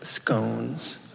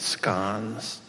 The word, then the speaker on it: scone: Stuffed animals, steak and kidney pie, scones, never scones, pronounce it scones, boozy cake, creamy eggs,